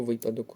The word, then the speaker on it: випадок: запам'ятовуємо дуже трапляється нанмт обть правильний варіант наголошування слова випадок чи випадок правильне слово випадок уже траплялось таке слово